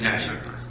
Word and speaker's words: Matei: So, there's 3 pending motions for admission Pro Hoc Vice for Attorney Murphy and Attorney Matei, is that how you say it? Matty. Matty? Yes, sir. Thank you.